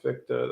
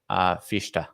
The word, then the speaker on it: Fichte: I've heard most people say Fichte. Fichte.